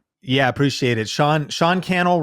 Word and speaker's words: Sean Cannell: I appreciate it Sean Sean Cannell rhymes with YouTube channel um that's on uh